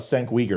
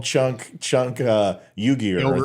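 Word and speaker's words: Cenk Uygur: That's how you pronounce his name. Thank you. I never knew that. It was Senk. Well, no, I used to call him Chunk Uyghur, I think is what I called him.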